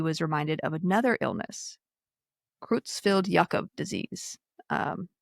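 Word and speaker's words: Creutzfeldt-Jakob: Um, I know sometimes here in America we say Kroozfelt Jacob disease. I've heard both, but from what I've learned recently, it's Krutzfelt Yakob because they were both these individuals were both uh, German, actually.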